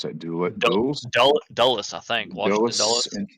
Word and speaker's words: Dulles: How do you pronounce that? Dulles? Dulles, I think.